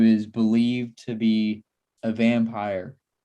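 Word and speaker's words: Vampyr: don't know if i said the name but vampire from 1932 that's how you pronounce it it's only 73 minutes long uh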